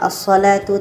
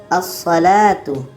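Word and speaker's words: الصلاة: Kalau alif lam syamsiyah, lam tidak dibaca. Seperti contoh pada asalatu tadi, asalatu lam tidak dibaca, asalatu dan juga ada tanda tasdid.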